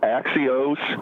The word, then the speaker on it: Axios: Are are you are you talking about Axios? Yes. I believe that's the way they pronounce it.